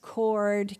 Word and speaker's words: chord: How about chorus, chord, chemistry? CH, and what pronunciation? K.